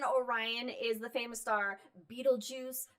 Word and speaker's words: Betelgeuse: brightest stars in Orion is the famous star Betelgeuse. Betelgeuse. How different pronunciations. It's the armpit of Orion, or his right shoulder. How do you say it, Mike? I say Beetlejuice.